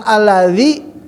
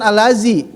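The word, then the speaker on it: الذي: jadi ingat ya setiap pengucapan alladzi itu bukan alazi alladzi semua ya juga ada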